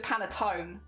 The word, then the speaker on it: panettone: I don't know if it's panettone or panettone. There's silent E. Okay, so it is just panettone.